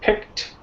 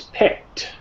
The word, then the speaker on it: picked: So you don't pronounce the ED, so you're just pronouncing a T. So for example, if we look at picked, it's pick plus T. It's picked.